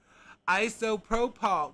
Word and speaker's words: isopropyl: Isopropyl. Wait, where are you getting the A? There ain't no A. That says isopropyl. Isopropyl. That's how I say it. Isopropyl. Isopropyl. There ain't no A in there.